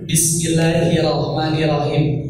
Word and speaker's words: Bismillahirrahmanirrahim: ya Bismillahi irahmanahim I setiap yang ada taskid ya harus rasakan kerasa ada dua huruf di mana Di antara